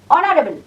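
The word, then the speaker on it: honourable: honest অখানে আছে honest honesty hour এ আর অনারেবল অনারেবল তাহলে আমরা অ আর আ যদি এই উচ্চারণ হয় তার পূর্বে আমরা বসাব কারণ এখানে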